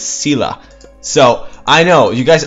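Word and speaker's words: Scylla: there was the unit called skila well I pronounce it skila but apparently it's cila so I know you guys always correct me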